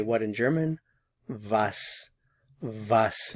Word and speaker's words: was: say what in German vas vas notice the pronunciation of the W vas vas what vas in this